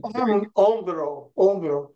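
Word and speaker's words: hombro: om yeah very good omro right so in Spanish the O is always an O it's always the o sound and the H is not pronounced okay okay so say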